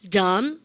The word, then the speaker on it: dumb: 비발음 다 무음입니다. 아시죠? 근데 그래서 dumb, come, tum, plumber 아시죠?